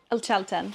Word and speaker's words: El Chaltén: Okay, so I'm sitting in our guest house in El Chaltén. Is that how you pronounce it, Keri? Is it El Chaltén or Chaltén? El Chaltén.